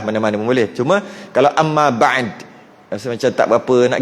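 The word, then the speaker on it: أما بعدُ: Jadi kalau wa ba'du, best sikit bunyi. Amma ba'du. Itulah. Tu cara baca je tu. Dihidupkan dal tu, walaupun kita nak matikan dia, kata nak berhenti, tetap dihidupkan dal.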